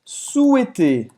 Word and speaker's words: souhaiter: souhaiter. Souhaiter. O verbo desejar. Souhaiter. Você não vai pronunciar esse H no meio. Souhaiter.